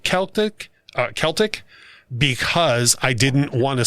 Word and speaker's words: Celtic: daft, and and then Russ pronouncing the hard C on Celtic. Think Boston Celtics or Tom Selleck.